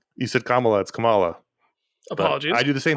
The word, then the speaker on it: Kamala: ruined my ability to say her name it's Kamala apologies I do the same thing I read